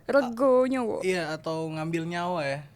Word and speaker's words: Rego Nyowo: How do you pronounce that? Rego Nyowo. Rego Nyowo.